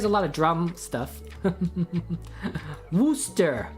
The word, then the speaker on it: Worcester: lot of drum stuff wooster wooster yeah i said that super good worcester sauce worcester sauce